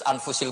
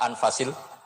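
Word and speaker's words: أَنْفَس: Di sini ditulis anfusil kutub. Selalu saya baca anfasil kutub karena maknanya kitab terbaik. Kalau kitab terbaik bacanya bukan anfus tapi apa? Anfas.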